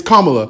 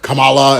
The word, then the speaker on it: Kamala: not saying it right it's kamla and Trump is like Kamala and I'm like bro